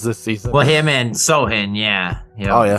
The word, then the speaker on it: Sochan: Well, him and Sohan, yeah. Oh yeah, Sochan. They got some good. No, it's Sohan. Is it Sohan? Or Sohan? Yeah. Sohan. Yeah, the C is silent. C is silent C.